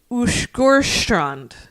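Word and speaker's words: Åsgårdstrand: I believe it is Ushgorstrand. Wow. But it looks like Asgard Strand.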